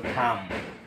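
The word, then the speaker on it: thumb: ইংরেজি শব্দে এম এর পর যদি বি থাকে তাহলে সেই বি উচ্চারণ হয় না।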